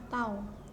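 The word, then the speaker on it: τ: ini namanya tahu ya ini bukan huruf t tapi tahu yaitu lambang dari torsi bacanya tahu Hai tahu = l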